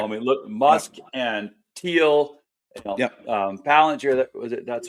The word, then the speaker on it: Palantir: Palantir.